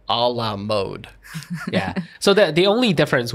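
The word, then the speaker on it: à la mode: Yeah, but actually in most European languages, the O would be more flat. Like Sherry was saying, would be a flatter sound. A la mode. A la mode. A la mode. Almost sounds like mud. Like MUD mud.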